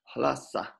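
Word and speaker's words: ལྷ་ས: They did not mix up transliteration and transpronunciation, because if you transliterate this, it's L-H-A, right?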